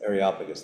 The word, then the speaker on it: Areopagus: meeting place, I don't know how to pronounce these things. What's it? Areopagus. Areopagus? Areopagus. Areopagus, that's what it is.